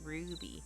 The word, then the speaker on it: RWBY: It's an American-made anime show pronounced Ruby.